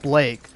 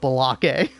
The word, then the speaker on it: Blake: Oh, it's actually pronounced Blake. Shut the fuck up, Balake.